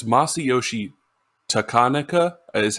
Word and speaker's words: Takanaka: more pop uh masayoshi takanika i always want to say takanaka but i feel like the emphasis is wrong on that whatever i say that's